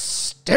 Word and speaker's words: Sting: You got to say like Tony Schiavone, "It's Sting." It's Sting.